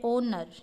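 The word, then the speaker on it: honour: एच के बाद जब भी ओ आ जाए तो एच का साउंड नहीं निकलेगा, ओनली हम ओ पढ़ते हैं। जैसे इसको पढ़ते हैं ओनर।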